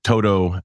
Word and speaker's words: Todo: So the name of our organization is the Todo Institute. We're an education and retreat center here in Vermont. And in Vermont, we're often referred to as the To-Do Institute because that first word, Todo, is spelled T-O-D-O.